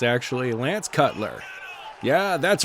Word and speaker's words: Lance Cutler: She pronounced it wrong. It's actually Lance Cutler.